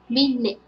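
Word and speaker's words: မိနစ်: So here is combination of alphabet ma and e symbol. So we pronounce mi. And second one is alphabet na and it symbol. So we pronounce nit. Altogether, minute.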